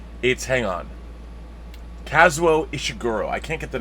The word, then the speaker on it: Kazuo Ishiguro: the name it is based on if I mispronounce his name Joshua is seguro casual it's AIT's hang on Kazuo Ishiguro I can't get the name the first name